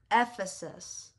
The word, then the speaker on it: Ephesus: How to pronounce... Ephesus. Ephesus.